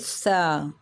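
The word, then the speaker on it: ث: Okay, this time little bit pronunciation are different. This time your tip of the tongue touches upper edge of the teeth and this letter start from the S.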